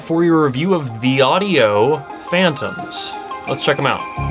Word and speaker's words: Thieaudio: Everyone kept saying Thieaudio Phantoms, and it looks like it should be pronounced Thieaudio Phantoms. It's Thieaudio. Thieaudio.